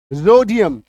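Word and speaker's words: rhodium: राइनोसरोस रोडियम आर के बाद एच मत पढ़ो।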